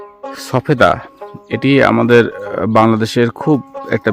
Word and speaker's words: সফেদা: দেখেন অবস্থা সবেদার, সফেদা হবে উচ্চারণ।